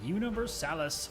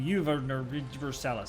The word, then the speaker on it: Universalis: I'm Loquid, you are you, and this is Europa Universalis 4. There, I said it right this time, haha! Last time I was going Universalis.